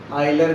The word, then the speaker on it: Euler: देखने स्टार्ट कर रहे हैं अपन आइलर ग्राफ। आइलर ग्राफ की इंग्लिश के स्पेलिंग होती है यूलर ग्राफ, इस तरीके से, लेकिन आइलर ही बोलते हैं इसको प्रोनाउंसिएशन के अंदर, आइलर ग्राफ।